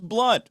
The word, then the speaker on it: Blount: but that's okay Jeb Blount and that's pronounce blunt it is pronounced blood pronounced no my last name was pronounced blunt oh I'm so excited